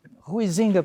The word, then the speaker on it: Huizinga: Huizinga para nós íntimos aqui no Brasil, né? Se escreve Huizinga, nós lemos assim.